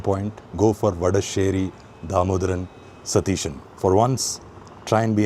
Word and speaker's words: Satheesan: But coming back to the main point go for vadesheri dhamodaran satishan for once.